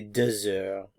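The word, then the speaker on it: deux heures: Il est 2 heures. Il est 2 heures. There's liaison here between the X and the vowel. The H is silent. So 2 heures, 2 heures, il est 2 heures.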